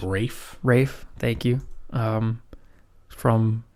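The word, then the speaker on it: Ralph: know how to say it I think it's Rafe Rafe thank you um from Harry Potter and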